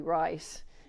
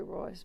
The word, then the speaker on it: Royce: asked me questions, and his name was Larry Rice, and I didn't know how to pronounce the last name. And then I found out it was Larry Royce.